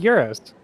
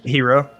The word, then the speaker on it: gyro: hero. I know It's people hero, call it yeah. like it's spelled like gyro, so a lot of people say that, but it's hero.